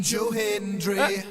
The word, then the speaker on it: Joe Hendry: I believe in Joe Hendry.